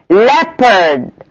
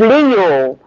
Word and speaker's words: leopard: Leopard, مش ليو, leopard.